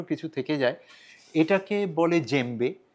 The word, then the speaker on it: djembe: এটাকে বলে জেম্বে। বানানটা একটা অন্য রকমের, ইংরেজিতে যখন আমরা স্পেল করি DJEMBE, ডিটা উচ্চ থাকে আর কি, সাইলেন্ট থাকে।